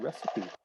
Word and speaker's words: recipe: um right but again it might be one of those words that comes from another language and we almost always keep the original pronunciation if it does come from another language it's called recipe recipe okay cooks she never